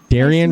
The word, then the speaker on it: Daryen: haven't start drinking yet um how do you pronounce your name about darian me and stephanie were talking about i